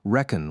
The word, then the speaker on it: Recon: Recon took his player handle from the American military shorthand for reconnaissance, although he pronounced it reckon rather than recon.